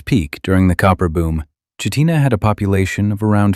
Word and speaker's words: Chitina: Pronounced Chitina by locals, which is important because mispronouncing it marks you immediately as someone who does not belong.